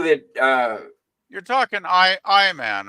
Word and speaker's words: Iman: uh you're talking I I man right Scotty I believe her name is pronounced Iman well whatever name apples